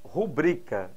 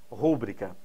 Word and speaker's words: rubrica: incorreta na letra a nós temos rubrica e não ao contrário do que alguns pensam rúbrica se fosse rúbrica seria acentuada por ser prop paroxística não é